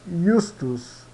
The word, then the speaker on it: iustus: ã iecur iecur e iustus yustos tá então sempre quando tiver um J é i tá então ianua iecur